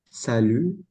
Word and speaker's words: salut: Mur ya bongsar bongsar Salu Salu eh itu u-nya Salu Iya salunya enggak kebaca tadi sudah tahu I itu